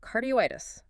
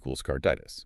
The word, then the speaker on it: carditis: So, if we kept the mortar there, we'd have cardioitis. Exactly. Which sounds like I'm stuttering through my own diagnosis. I have cardioitis. Yeah, the O becomes totally redundant phonetically. So, rule two tells us to cut it. Cardi + -itis = carditis.